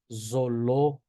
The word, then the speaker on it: zoológico: Después vamos con la Z. La Z se pronuncia como dos puntos, una S vibrada, ¿sí? Por ejemplo, la palabra zoológico, zoológico, zoológico, zoológico, ¿sí?